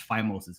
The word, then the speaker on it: phimosis: Take over-the-counter pain reliever relievers or I'm going to say phimosis or phimosis.